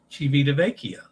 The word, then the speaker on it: Civitavecchia: Mind your E pronunciation and time. Vecchia. Civitavecchia.